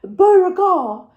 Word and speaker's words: Beauregard: And I actually corrected him in English and said, yes, Beauregard, before I realised the vet was actually French and was pronouncing Beauregard the correct French way.